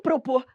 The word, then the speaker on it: propor: Mas por que que propor pare para pensar, propor, se eu não falasse propor, se a pronúncia fosse propor, seria separado. Só que a pronúncia correta é propor.